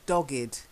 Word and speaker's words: dogged: Next one, it's not a silent E, it's dogged. Dogged.